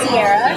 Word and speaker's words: Ciara: to pronounce it yeah my actual name is Sierra I know it's confusing